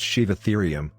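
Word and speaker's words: Sivatherium: number six sheave ethereum a shiva ethereum pronounced shiv ethereum was a type of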